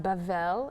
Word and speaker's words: Babel: one land um Babel Babel pronounced bavel in Hebrew is Babylon the tower in the